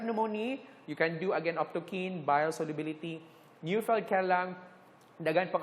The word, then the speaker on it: optochin: antibiotic, and that is Optokine. Some people say Optochin. I don't like. It's Optokine. Okay, I pronounce it as Optokine.